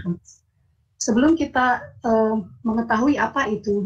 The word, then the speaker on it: HOTS: Yang harus saya garis bawahi, tolong membacanya jangan sampai hilang S-nya ya. Karena kalau hilang S-nya maknanya akan berubah. Jadi tetap harus dipanggilnya HOTS.